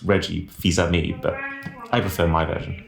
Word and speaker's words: Fils-Aimé: I think it's actually pronounced Reggie Fils-Aimé, but I prefer my version.